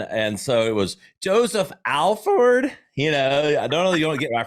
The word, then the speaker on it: Alford: It's always a brain freeze because it looks like Alford, but pronounced Alford.